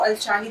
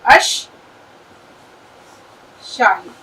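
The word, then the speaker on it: الشاهد: इसी प्रकार, " अल-शाहिद" की तरह, इसे "अल-शाहिद" पढ़ा जाता है, और जो लोग यह नहीं जानते कि इसके लाम की ध्वनि उत्पन्न नहीं होगी - मैंने कई लोगों को " अल-अल-शाहिद" कहते सुना है क्योंकि वे क़मारी और शम्सी के बीच अंतर नहीं जानते हैं। तो इसे भी हम बिल्कुल इसी तरह लिखेंगे।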